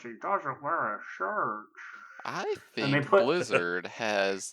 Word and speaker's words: Ian: It's Ian Hazakostas. Ion. I've heard that, and I was like, no, it's Ian.